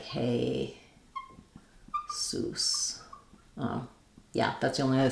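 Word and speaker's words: Jesús: Maybe you're asking about the Spanish Jesus. That would be like hey, sus.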